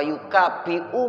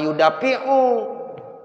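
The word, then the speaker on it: يُكَافِئُ: Ya, wa yukafi'u mazida. Ya, itu begitu. Jadi alhamdulillahirabbil alamin hamdan yuwafi ni'amahu wa yukafi'u mazidah. Jangan wa yudafi'u. Ya, salah.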